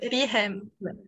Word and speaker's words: Rihem: Comment on prononce? Oui, monsieur. Rihem.